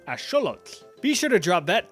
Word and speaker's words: axolotl: So it would be correctly pronounced as axolotl.